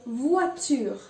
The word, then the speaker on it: voiture: V pour voiture. Voiture. Again, you see OI is pronounced as wa and not oi. So it's voiture.